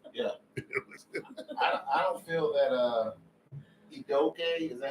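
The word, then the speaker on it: Udoka: I don't feel that Idoke, is that how you pronounce the last name?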